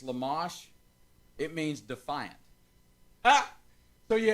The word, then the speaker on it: Lamech: you go down cain's lineage i'm going to mispronounce that name but it's lamash it means defiant so you have a dedicated